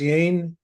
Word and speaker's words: Jane: to Jane too yeah is it pronounced yane J silent yeah Jane y yeah I